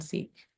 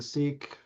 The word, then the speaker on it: CEEK: The only thing that I wonder, just knowing the name is spelled CEEK, is does it create confusion saying seek, what is it, seek a new reality with seek?